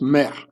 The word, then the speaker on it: mr: The ancient Egyptian word for pyramid is Mer, M-R, pronounced Mer.